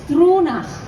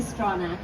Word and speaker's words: Stronach: So it's a Gaelic name. So it's Struna, but I never ask anyone to pronounce it. So we just say Straw.